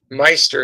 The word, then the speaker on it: Meister: name please me Meister is how you say it sorry about that Miss